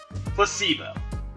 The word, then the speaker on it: placebo: today repeat after me placebo stress is in the middle symbol Placebo Splendid it's